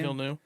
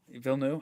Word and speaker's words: Villeneuve: Villeneuve. Villeneuve.